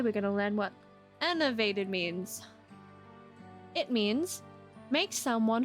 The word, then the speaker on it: enervate: Today we're going to learn what enervated means. It means make someone feel drained of energy or vitality, and it is pronounced as...